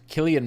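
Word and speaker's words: Cillian: uh I know that Killian Murphy because I believe that's the Irish pronunciation um has said that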